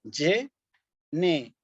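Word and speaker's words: generationes: la e yeneraciones sí cuidado aquí con esta palabra generaciones porque un error grave sería decir generaciones o generaciones Sí en latín eclesiástico esta palabra se pronuncia como y negaciones la t con la y la o la pronunció como tío generaciones sí eh el Ok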